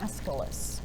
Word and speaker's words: Aeschylus: name is looks like this and it is pronounced aeschylus escalus was a soldier at marathon he fought